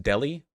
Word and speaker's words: Delhi: do you pronounce delhi is it just delhi like like the meat deli do i just say that yes i just feel dumb saying that there's an h right there did okay fine delhi sure he's trying to